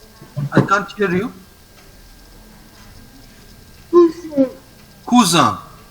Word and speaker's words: cousin: Cousin. Cousin. OU is U and IN is A, so it is cousin.